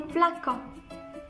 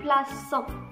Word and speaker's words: plaçons: Je place, tu places, il place, Ici, si on n'a pas ajouté le cécidi, on va prononcer ici nos plaquants. Très bien, parce qu'on a un O. Et ici, on veut, selon la règle, on veut préserver le son S. Très bien, donc on a ajouté le cécidi. On va la prononcer nous plaçons.